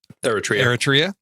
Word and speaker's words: Eritrea: was adopted from war torn oh I can't pronounce that word error territory Eritrea yes okay uh after a high school teacher